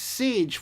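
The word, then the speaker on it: Saije: a i j e but it's pronounced sage where does that come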